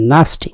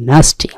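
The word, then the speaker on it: nasty: মানে হচ্ছে বিবাহ পরিণয় ন্যাস্টি নাকি নাস্টিক উচ্চারণটি ন্যাস্টি নাস্টি মানে নোংরা খর্বিশ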